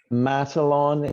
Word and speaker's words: Matalon: And then Adam, and I am not entirely sure how to say it, but I was thinking Matalon. Matalon is fantastic. You get the prize.